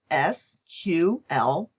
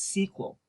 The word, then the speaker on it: SQL: the then-new SQL language SQL is sometimes pronounced as SQL and other times as sequel some other commercial relational